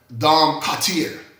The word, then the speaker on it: Cartier: Okay, coach history, Cartier. Okay, I got to say it right because it's like the jewelry store.